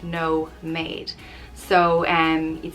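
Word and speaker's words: nóiméad: made is um minutes in irish pronounced no made so and you'd say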